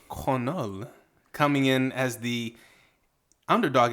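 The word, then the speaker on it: Cornolle: Jacqueline cavalcante taking on Nora corolle or as my eyes initially wanted to pronounce it Nora cornhole that's also where my mind went um but I believe it's conol coming in as the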